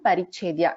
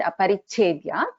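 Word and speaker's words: अपरिच्छेद्या: it, split this word, I told that as Dhyanagambya and Parichedya, which is not correct. It is actually Dhyanagambya and Aparichedya. But when we are chanting together, Dhyanagambya Parichedya is how we will pronounce it together.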